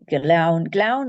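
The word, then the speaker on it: Gleann: Glaun is what Glen comes from, Glaun. But because it's got the ANN, it becomes Aun, Glaun Namuch.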